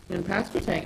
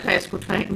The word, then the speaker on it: Pasquotank: And especially, I'm real sensitive given the shooting at Samsey in Pasquotank. You talk about that all the time. I said Pasquotank, not Mr.